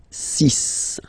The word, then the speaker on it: six: So it's not six, it's sis.